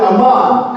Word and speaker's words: Amman: It's pronounced different. They call it Amman because it's Ammon. You didn't know that? Amman, Jordan.